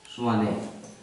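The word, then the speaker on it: Tshwane: Pretoria का नाम बदल गया है, नाम है स्वाने, इंग्लिश में टी लगा देते हैं। स्वाने, एस के पहले टी साइलेंट हो जाता है, स्वाने।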